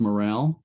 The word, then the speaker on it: Morrell: was the daniel j morrell oh yeah it's pronounced morale yes yes oh okay